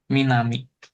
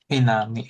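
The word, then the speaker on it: 南: Minami. Minami.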